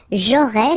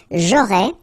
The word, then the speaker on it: J'aurais: J'aurais, so final S, not pronounced. J'aurais.